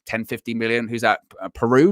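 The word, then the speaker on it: Perraud: 50 million who's that peru is how you say his name yes they brought those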